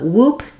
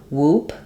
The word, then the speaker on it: whoop: same as in swoop whoop um it's just basically the same word even though it's spelled with wh um it just has the W sound um but people will